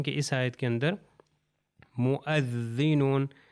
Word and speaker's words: مؤذنون: اس آیت کے اندر مؤذنون، یہ واو تلفظ نہیں ہوگا، مؤذنون، واو کے